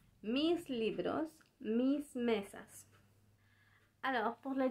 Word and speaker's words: libro: Sus libros. C'est important de dire aussi que libro c'est avec B et pas avec V. Alors, il faut bien le prononcer libro.